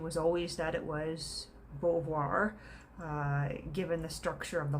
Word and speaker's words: Beauvoir: then is simone de beauvoir and uh beauvoir is of course a french last name i think it's relatively